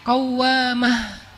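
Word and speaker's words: قوّامة: Innahawamah qawwamah. Qawamah dari kata qoimah. Qoimah itu artinya orang yang berdiri salat malam. Kalau rajin salat malam dikasih tasdid bacanya jadi qawwamah.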